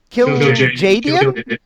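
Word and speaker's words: Kil'jaeden: god of war uh kill a j kill kill jd is that how you pronounce it yes in world of warcraft yeah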